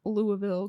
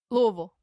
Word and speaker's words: Louisville: July 27 1896 in Louisville Kentucky Louisville Louisville you're putting too many syllables on that Louisville Louisville I can't